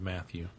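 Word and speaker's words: Mathie: at yeah cuz he's his name is spelled m a t h i e which I think is the French spelling of Matthew it's Matthew true Matthew really this section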